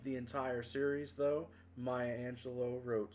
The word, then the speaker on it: Angelou: pronounce her name, and there were people who mistakenly thought her name was Angelou, not Angelo, because the last part of it looks like Luis or Louis.